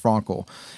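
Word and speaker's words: Frankl: first century so Victor Frankel or Frankel I think it's pronounced Frankel he was um he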